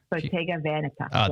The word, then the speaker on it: Bottega Veneta: It's Bottega Veneta. Is that right? Yeah. Bottega Veneta. There we go. Thank you. There you go, audience. That's how you pronounce it properly.